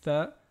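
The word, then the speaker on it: ث: Pour le tha, quand on prononce avec un soukoun, donc ath, on sent l'air passer tranquillement au niveau de la gorge, tandis que pour le dha, on sent une forte vibration au niveau de la gorge, due au fait que l'air ne circule pas librement.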